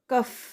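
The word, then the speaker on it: कफ़: और दूसरा कफ है क नुक्ता फ कफ।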